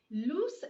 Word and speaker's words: loose: word again lose so that is how you pronounce the word loose is an adjective which is used to describe